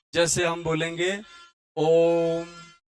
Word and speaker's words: ओम: हो जैसे हम बोलेंगे ओम है ना यह देखो ओम में जो ओ है उस ओ को लंबा करके बोला जाता ओम तो ओ जो है